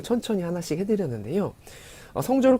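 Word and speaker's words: สอง: 2는 성 하고 4성으로 잘 발음하시고요.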